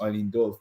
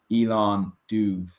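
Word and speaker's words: Eilean Dubh: at 145 York who apparently isn't pronounced Eileen Dove but pronounce Elon dove that's a scotch scalic that's what it yeah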